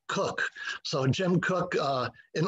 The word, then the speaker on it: Koch: pronounced his name because i didn't know if it was koch or coke i found out it's actually cook so jim cook uh